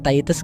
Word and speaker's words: Titus: Dibacanya Titus guys.